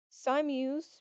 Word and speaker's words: Simus: Simius, pronounced Si-mius, it's spelled s i m u s.